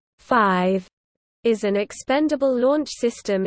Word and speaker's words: Atlas V: Atlas V is pronounced 5, is an expendable launch system in the Atlas rocket family.